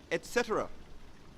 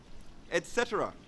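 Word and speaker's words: etc.: say etc or etc the correct pronunciation is basically how the long form of the word is spelt and it is etc etc on my holiday in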